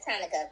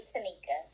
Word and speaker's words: Tanika: I said it looks like Monica with a T, so I get why everybody says Tonica, but it's really Tanika.